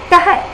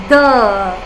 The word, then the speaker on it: the: Tah. But this is not read as tah or tahi. This is read as the.